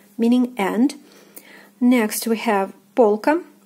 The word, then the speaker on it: полка: Next we have полка, полка. O is stressed, is pronounced as in the alphabet.